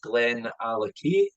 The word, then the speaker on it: Glenallachie: forklift coroner there now to pronounce the name is Glenn allocate like a key that you would stack in the door Len means Valley and